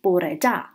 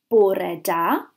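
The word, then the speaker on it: bore da: to say good morning in Welsh we say Borah da if we want to say good afternoon we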